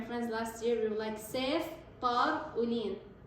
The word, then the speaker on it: ceftaroline: last year, we were ceftaroline. Cef, guy name, tar-uline, okay? So it's just a way for me to remember how to pronounce it.